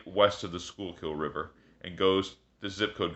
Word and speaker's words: Schuylkill: Schuylkill is really how it's pronounced.